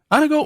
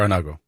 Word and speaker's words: Anago: Anago or Anago? You can pronounce it either way, but tomato. Anago is typically the way we pronounce it.